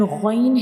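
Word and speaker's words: غ: When we pronounce ghain, the sound remains into the mouth. It doesn't spills out because this is a heavy letter and it will produce heavy sound like ghain.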